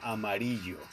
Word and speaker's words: Amarillo: I see, I'm speaking Spanish. Citra. Citra and Amarillo. I gotta say it like that.